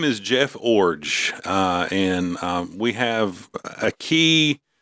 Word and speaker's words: Iorg: But yeah, Jeff Orge like a forge. He told us this like when we met with him. IORG. IORG, but you say it like forge without the F, so Orge.